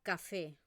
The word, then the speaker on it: café: normas de de acentuación, pero café realmente esta e se pronuncia con una e un poco con la boca un poco más abierta.